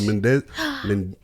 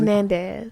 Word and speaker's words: Menendez: The Mendez. How you say it? Menendez. The Menendez brothers.